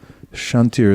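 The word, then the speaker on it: kṣāntir: Shantir is spelled K-S. Shantir, K-S.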